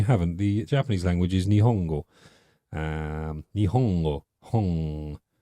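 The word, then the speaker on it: 日本語: The Japanese language is Nihongo.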